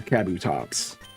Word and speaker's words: Kabutops: I used to say Kabutops, and now I say more, I think, say Kabutops. But because I still will say Kabuto. I don't say Kabuto. I just feel like that's adding an extra syllable. I think the correct pronunciation is Kabuto or Kabutops.